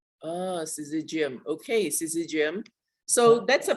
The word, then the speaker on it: syzygium: Well, in Australia, we call it syzygium. Ah, syzygium.